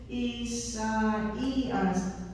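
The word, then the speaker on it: Ἠσαΐας: two vowels together, but you don't want to pronounce them as one sound, as a diphthong, then you use these to the diaresis. So this is Isaias.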